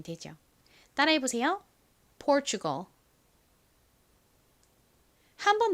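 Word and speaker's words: Portugal: 한국식으로 포르투갈이라고 부르는 나라입니다 한국식 발음과 제 영어 발음이 상당히 달라서 외국 사람한테 포르투갈 이렇게 또박또박 발음하면 모라라들을 확률이 높습니다 자 다시 한번 미국식 원어 발음으로 연습해 볼게요 pgal 포르투갈을 의미하는 포어이라는 단어의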